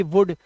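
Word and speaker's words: would: एल डी ऐसे ही सी ओ यू एल डी कुड डब्लू ओ यू एल डी वुड तो यहां पर हमारा एल साइलेंट होता है है ना एल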